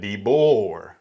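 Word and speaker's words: DeBoer: say the boy Deo it's not dbo none of that kayn dor there's an e there so it's like debor yeah self-explanatory choose your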